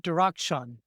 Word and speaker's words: Darakhshan: And today's special guest is Dustin Dakshun.